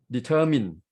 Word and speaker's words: determine: that was determined so we start at the middle syllabus syllable determine not determine and in determination the straight shift to the word nay it's become determination the word determine the stress in the middle and what purpose